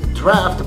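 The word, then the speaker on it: draught: However, in the British, it's draft, but this is, look how it's written. D-R-A-U-G-H-T, draft. Analyze, pronounced the same, but they are written differently.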